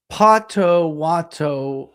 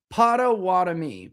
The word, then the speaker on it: Potawatomi: They were really waiting on Lyon to see if they can get close enough to have Lyon and Pato Wato.